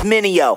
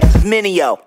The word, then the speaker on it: Mineo: Everybody make mistakes like VJs, tryna say my name, it's Minio. Say it with me, Minio.